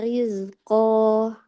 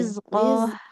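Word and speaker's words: رزقا: Wajada 'indaha rizqah. Jangan seperti ada haknya ya, tidak Oh iya, rizqo.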